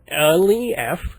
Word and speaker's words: Lefkowitz: No, it's just Lefkowitz. It should be fairly phonetically pronounceable to anyone who has any competency in the English language.